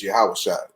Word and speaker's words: Yahushua: The real way to say his name is Yahushua.